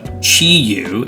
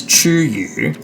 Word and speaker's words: Chi-Yu: So Chi-Yu is probably how most people would pronounce it. I read that as Chu-Yu, which directly translates to eat fish.